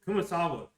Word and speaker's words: Kumasawa: Kumasawa, if she heard what Maria says, she would believe her.